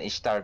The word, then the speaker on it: Ishtar: I cannot change my pronunciation on Ishtar because the first time I hear Ishtar is from Full Metal Alchemist, so I'm stuck with the Japanese pronunciation.